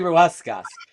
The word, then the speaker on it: Ruescas: This is JJ Ruescas. It's got an extra syllable that I dropped the first time. I did it right that time. JJ Ruescas, who You did it.